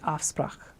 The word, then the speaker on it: afspraak: For example, appointment is afspraak. So that took just a little practicing, just get the guttural.